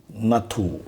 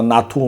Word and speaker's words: Nathu: त्या पोराचं नाव होतं नाथू. NATHU. त्याला नाथू म्हणा, नथू म्हणा, त्याचे स्पेलिंग सेम आहेत, फक्त प्रोनन्सिएशन आपण आपल्या पद्धतीने करत असतो.